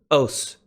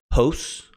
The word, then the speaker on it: ὡς: you drown translate this host I think because in raspbian you definitely pronounce the rough breather as an H but in my pronunciation it's silent oh s--- okay what